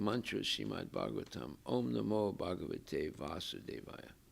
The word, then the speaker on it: Vasudeva: is given very emphatically omnimo vasudeva with a long a that's krishna the son of vasudeva right no equivocation so